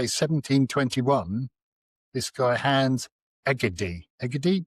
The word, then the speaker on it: Egede: Egede, you're more of a Scandinavian pronunciation.